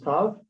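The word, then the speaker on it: ת: Okay, and then we have 2 versions of tav, one with a dot. This is tav, and this is tav. This is sav, I guess. If you're in Spartic, okay. But in Hasidic, the Hasidic Jews, they're both the same.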